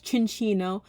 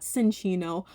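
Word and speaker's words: Chinchou: When I pulled the first card, I definitely pronounced the Pokemon's name wrong. It's Chinchino, not Cinchino.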